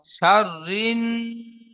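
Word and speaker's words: شَرٍّ: ومن شر شر شر ومن شر শাররিন, র নুন যে রি নুন তাজদিদ গুন্না হবে।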